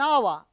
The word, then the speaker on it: hour: with a W sound I shall be back in an hour H Ur h is not pronounced so we have to use an here Smith is Smith is